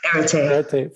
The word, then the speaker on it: Erete: Can I have you pronounce her name and last name? Erete from DePaul University.